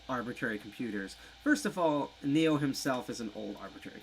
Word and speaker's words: Xio: of my long time friends nyc 2600 it's pronounced neo his full handle is technically neo amsterdam but